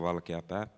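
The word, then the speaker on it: Valkeapää: I've been my family name in Finnish is Välkepää, and in Sami way of saying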